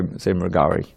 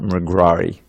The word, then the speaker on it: Mrigari: Everyone can say that say Mrigari. Yeah, not Mrigrari.